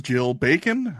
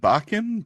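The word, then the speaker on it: Jill Bakken: didn't realize that's how her last name was pronounced but I I'll Trust you on that the correct answer apparently is Jill bacon I would have said bachan but uh I didn't listen to this one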